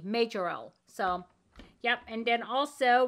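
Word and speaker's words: Majorelle: It's spelled M-A-J-O-R, like major, L-E-L-L-E, Majorel.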